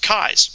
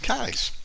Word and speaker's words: Keyes: But it's like the eyes in your head, the eyes you see with a K in front of it. So it's actually pronounced Keyes. Keyes.